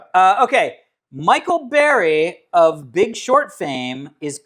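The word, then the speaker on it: Burry: Um, the reason why I think this is interesting is because so Michael Bry for those people are Bur, but I think it's pronounced Barry.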